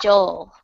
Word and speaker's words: Joel: I'll do Joel next, and then after Excuse that, me, by the way, just so you stop pronouncing his name wrong, his name's Joel. Joel.